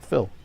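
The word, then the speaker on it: Fyll: Sorry, Phil. And Phil is spelled F Y L L, not like Phillip, you know.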